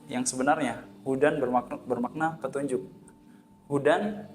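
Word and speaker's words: هدى: Hudan membacanya dengan pendek. Sedangkan ketika kita membacanya dzalikal kitabu la raiba fihi hudal, nah, karena kita salah membaca dengan panjang, maka maknanya adalah Yahudi, yaitu bukan lagi petunjuk tapi Yahudi bagi orang bertakwa.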